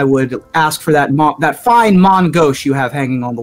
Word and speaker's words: main gauche: main gauche. It's not pronounced Main main Gauche? gauche. I went to the pronunciation guide, and it is a Mon Gauche.